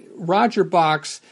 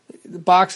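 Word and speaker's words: Bochs: And in fact, in this issue, he makes it the point of explaining that it's pronounced just like Box, B-O-X.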